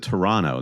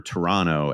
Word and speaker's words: Toronto: Yeah, but you have to pronounce it Toronto. That's what I'm learning. If you pronounce the extra T.